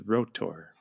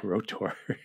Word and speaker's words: R.O.T.O.R.: revenge and later we're going to watch 1987's rotor I pronounce it oh that's how you say it rotor wait a minute I said r o t